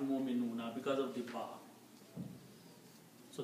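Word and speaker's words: مؤمنون: So you still pronounce mu'min or mu'minun. Okay? You do not pronounce waw.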